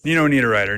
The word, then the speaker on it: Niederreiter: pronunciation guide. Nino Niederreiter, Nino Niederreiter, Nino Niederreiter, Nino Niederreiter, Nino Niederreiter, Nino Niederreiter, Nino Niederreiter, Nino Niederreiter, Nino.